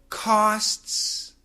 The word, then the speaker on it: costs: we say costs actually the faster we say it we can cancel the T sound so this costs $5 can sound like this costs $5 this costs $5 cost costs there is no t okay the T